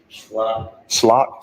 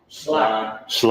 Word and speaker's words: Schley: Slock. See? That's not what you said. Slock. Schley. I said Schley.